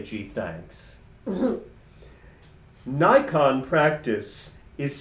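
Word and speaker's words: Naikan: Nikon practice is spelled in English transliteration N-A-I-K-A-N, different from the camera.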